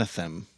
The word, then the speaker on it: Anathem: I started rereading and atham now you might not have noticed this is not anthem the iron Rand book by the way very similarly spell Anathem an extra syllable in there and you might not